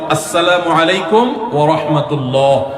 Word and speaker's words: আসসালামু আলাইকুম ওয়া রাহমাতুল্লাহ: কিছু মানুষ সালাম দেয় ভুল উচ্চারণে। শুদ্ধভাবে সালাম প্রচলন বাড়াতে আমরা কি করতে পারি? শুদ্ধভাবে সালামের উচ্চারণ বাড়ানোর জন্য শুদ্ধ করে সালাম দিতে হবে, আসসালামু আলাইকুম ওয়া রাহমাতুল্লাহ।